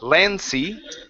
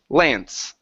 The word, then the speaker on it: Lance: that last word here remember in English the e that's at the end of the word typically is silent meaning that we do not pronounce it so instead of land see the word is Lance Lance okay good good